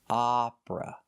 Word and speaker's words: opera: It uses the short O like hot and stop. You make the open sound ah. Opera. Opera is the pronunciation for this style of music. Opera. So he's singing opera, not Oprah.